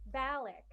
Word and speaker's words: Balak: Balak, is that the right way to say your last name? Balak, Balak. Excellent.